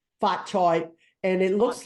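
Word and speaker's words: 髮菜: I was a kid, phonetically, in Cantonese, we call it Fat Choy. Fat Choy.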